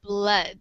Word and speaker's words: blood: And this word is really pronounced with the schwa sound, so it sounds like like the schwa sound. So yeah, it sounds like blood.